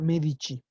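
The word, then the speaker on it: Medici: los medichi Aquí está lo mismo se pronuncia medichi aunque no tiene H aquí pero como es la c junto a una vocal son los medichi la familia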